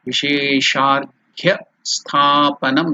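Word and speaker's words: विशेषार्घ्य स्थापनम्: Vishesha Arghya, together while it is joined it becomes Vishesharghya Sthapanam. Stha, the A is elongated, Dirgha Sthapanam. So that is how we have to pronounce Vishesharghya Sthapanam.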